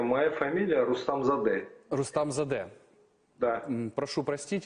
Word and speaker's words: Рустамзаде: слава я вас понимаю для украинцев моя фамилия труднопроизносимое моя фамилия рустам зады рустам за д-да прошу простить если неправильно произнес